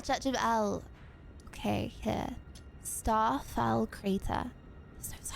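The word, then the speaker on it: Elleh: Elia. Church of Chad. How do you pronounce E L L E H? Uh. L. Ah, L. Church of L.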